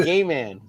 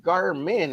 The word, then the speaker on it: Garmin: He would call him gay man.